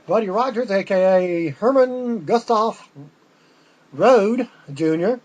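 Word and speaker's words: Rohde: Rogers AKA Herman Gustav Road Junior that's not Rhodes it's spelled it almost spelled the same the pronounce the same with his last name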